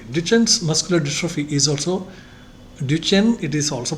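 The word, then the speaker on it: Duchenne: Duchen's muscular drophe is also duchen. It is also pronounced as duchens and somebody duken etc.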